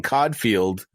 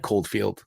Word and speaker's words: Coldfield: a quick moment to say hello to Sutton Cod field in the UK they are the number one place listening to our podcast Oldfield did I say Cod field well I meant cold field listen I mispronounced all those UK places that's